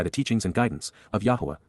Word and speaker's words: Yahowah: teachings and guidance of YAHOWAH, YAHOWAH, the proper pronunciation of the name of Eloah, God as directed in